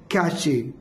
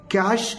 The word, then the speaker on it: cache: The next word is been very famous word कैचे और कैच, बट is wrong. कैश इज a memory, इसका right pronunciation है कैश, जो कि एक computer